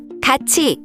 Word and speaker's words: 같이: So it's pronounced 같이.